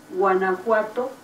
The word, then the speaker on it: Guanajuato: Vou colocar aqui a pronúncia correta para vocês. Guanajuato.